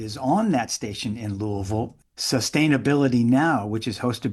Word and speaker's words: Louisville: How do you say it? Louisville. Yeah, it's like New Orleans. Yeah, you have to sort of be from there. Right. To say it right.